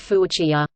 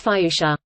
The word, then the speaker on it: fuchsia: Fuchsia, I used to pronounce it fuchsia. It's Fiusha.